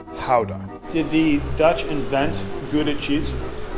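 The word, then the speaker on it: Gouda: super progressive too good a cheese is actually pronounced pow done did the Dutch invent cheese yeah all right yeah I've been calling it good it for a while so I'll try to correct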